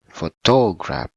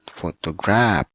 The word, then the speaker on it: photograph: the word uh with the correct stress word it will be photograph photograph right not for tall grab not photograph but photograph the second one we put